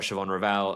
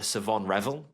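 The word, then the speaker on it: Shavon Revel: I think it's actually Savon Revel I think it's meant to be pronounced. I did not know. I know. Secret H and sign an H in there apparently.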